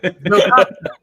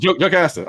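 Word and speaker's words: Jocasta: So Yo Costa is my next pick. Who? Yo Costa? How do you pronounce her name? Oh, I just didn't hear you. Joe Casta.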